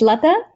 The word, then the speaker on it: Latha: How do you pronounce it? It's Latha. Latha?